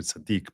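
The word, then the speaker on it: צדיק: So you call them not sadic but it's actually in Hebrew sadik but Americans say it's sadic.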